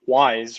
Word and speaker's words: Wyze: Yeah, it's Wise, which is WYZE is how you spell it, and I highly recommend that brand for a lot of different reasons.